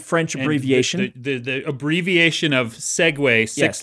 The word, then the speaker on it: Segway: So please tell me that you didn't, more than just pronouncing it Seg, you pronounced it with a French accent.